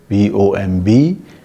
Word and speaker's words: bomb: Thus, we have words such as, let's say, B-O-M-B, pronounced as bomb, and B-O-M-B-I-N-G is bombing. However, the B surfaces in forms such as bombard.